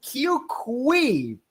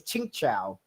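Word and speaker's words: Qingque: time I said this, I referred to as Q Kui, but then you corrected me that her real name pronounced is Ching Chao.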